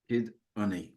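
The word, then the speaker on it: Cyd Ynni: So Cyd is CYD, like the Y in synonym, and then Unni, which means energy, is YNNI. Okay. So Cyd Unni. Kid Unni.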